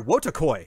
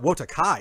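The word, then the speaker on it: Wotakoi: don't know uh oh sorry wotokoi it's not wotakai it's love is hard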